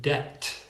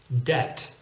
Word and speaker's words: debt: go into that here the same thing with the word debt now I think you'll admit that it's much easier to say debt than debt and if you do say debt people will probably be confused native English speakers will notice something about those two words the letter combinations